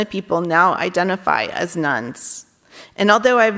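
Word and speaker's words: nones: and instead identifying as nuns and that's spelled in N not Nu NS the term nuns refers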